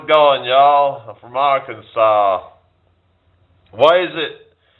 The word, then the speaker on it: Arkansas: I'm from Arkansas. Why is it spelled like or Kansas but pronounced Arkansas, but yet you've got can It's not Canaw, it's Kansas.